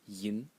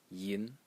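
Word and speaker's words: 银: And the last character is pronounced yin yin in the second tone and it means silver.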